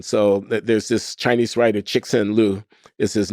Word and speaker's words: Cixin Liu: So there's this Chinese writer, Cixin Liu is his name. I might not pronounce it exactly right. Cixin Liu, Cixin Liu.